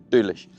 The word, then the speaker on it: Doolish: That's how you pronounce it in Isle of Manish. Whatever the local language is, Doolish.